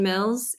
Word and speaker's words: Mills: My name is Mills. It rhymes with bills. You know the one, the dollar bills.